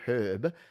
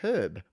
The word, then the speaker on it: herb: we say the word herb as herb because it has an H in front of it. And no one actually told me that in the English language the word herb has a silent H.